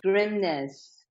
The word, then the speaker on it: Grimness: us who you are grimness it's a Norwegian last name I'm married into it grimness and I'm founder of